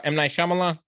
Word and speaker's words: M. Night Shyamalan: How you pronounce his name? M. Night Shyamalan.